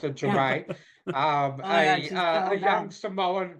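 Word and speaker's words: Ja'mie: It's Jamie, but pronounced Jermaine.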